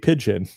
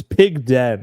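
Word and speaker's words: Pigden: Uh it's actually it's pig den. It's spelled pig den, not pigeon.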